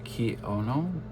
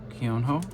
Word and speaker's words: Keonho: I think I was pronouncing him Keono Keonho because there was an E in there, but I guess you don't pronounce that E.